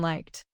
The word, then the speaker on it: liked: its base spelling, but like finishes with K. Therefore, liked uses the T sound. Say, I liked the film with one beat in liked. The written E does not create an extra syllable.